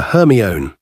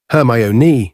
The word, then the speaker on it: Hermione: He kept calling her Hermione. "Hermionee," she said slowly and clearly.